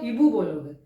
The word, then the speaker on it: hibou: इसको आप इबू नहीं बोलोगे, इसको आप हिबू बोलोगे।